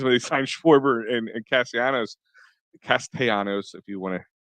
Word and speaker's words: Castellanos: We had high expectations when they signed Schwarber and Castellanos, if you want to pronunciate it correctly, because I got yelled at a couple times for that.